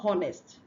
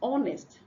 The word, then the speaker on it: honest: Then you have honest. The H here is silent. It's not honest. Okay, so it's honest.